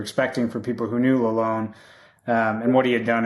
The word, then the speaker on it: Lalonde: assistant coach uh derek lalone and it's not lalonde it's the traditional french pronunciation alone which was uh good